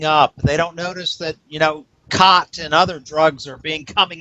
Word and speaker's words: khat: You know, if for those of you who don't know what cot is, it's spelled Khat, and it comes from Somalia.